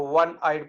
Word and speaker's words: one-eyed: yesterday i saw a one-eyed person although it begins with a vowel that is o but it gives the sound of one so a one-eyed person